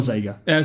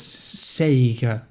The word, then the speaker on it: Sega: Sure, it's Sega. What are you saying? Are you saying like with a Z or with an S? Well, it's with an S, isn't it?